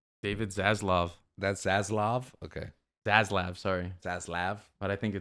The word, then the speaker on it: Zaslav: That's Zaslav. Okay. Zaslav, sorry. Zaslav. But I think it's pronounced Bro, Zaslav.